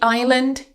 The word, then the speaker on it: island: The island is beautiful.